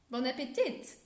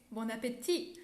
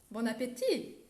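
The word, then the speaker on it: bon appétit: sound french or bianco don't pronounce the t in the end just say bon appetit or croissant and like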